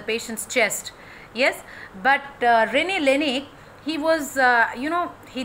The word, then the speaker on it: Laennec: It is Rene Theophile Hyacinthe Laennec. Okay, quite is it difficult to pronounce? Rene Theophile Hyacinthe Laennec. Okay, he was a French physician who invented stethoscope. Rene Laennec.